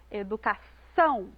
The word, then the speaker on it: educação: Na palavra educação, a gente coloca mais ênfase lá na última sílaba, são, educação.